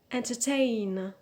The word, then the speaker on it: entertain: pro and finally the word entertain entertain so the stress is on the last syllable on ten but because we have